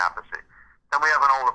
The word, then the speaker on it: Appice: It sounds like a piece of cake or a piece of pizza.